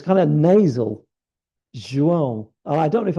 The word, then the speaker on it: João: But when you say Jiao or Zhao, it really doesn't sound good at all.